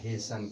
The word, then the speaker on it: hasten: ठीक है, अब यहाँ भी TEN है, अंत में इसके टी के बाद EN है, तो टी का उच्चारण नहीं किया जाएगा और इसको पढ़ा जाएगा हेसन।